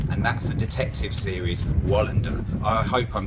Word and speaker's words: Wallander: It could be Valander, or it could be Volenda, or Valander, or we don't know, because no one said the name. But he said Wallander. That's how we would pronounce it. Wallander.